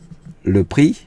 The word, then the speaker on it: prix: có đọc chữ X chữ X này không có đọc nó viết là nhưng